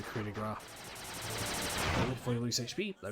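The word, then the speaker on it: coup de grâce: Some people actually pronounce it coup de grace. Coup de grace. It's a coup de gras.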